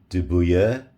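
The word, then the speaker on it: de Buyer: So as you can see, I've got my Dubuyer, there I've said it right, my Dubuyer carbon steel pan.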